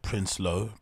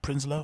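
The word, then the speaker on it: Prinsloo: is bahati Prince solo is it Prince low prinslow how do you pronounce that I think it's Behati prinslow right Behati prinzler who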